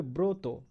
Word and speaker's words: ব্রত: সেমভাবে ব্রত, ব্রত, আমরা লেখার সময় লিখছি বয়র ফলা শুধু, কিন্তু উচ্চারণ করার সময় বয়র ফলা ওকার হয়ে যাচ্ছে, বয়র ফলা ওকার, ত ওকারে তো, ব্রত।